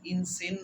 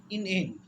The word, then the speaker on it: inane: Modern singing হচ্ছে childish and inane, not insane. আমি দু একজনকে এই জায়গাটায় আমি সামহাউ ভুল পড়তে শুনেছি, নোটিশ করেছি এটা, যে তারা ইনসেন বলে উচ্চারণ করছে, এবং printing mistake, not that it ইজ ইনএন।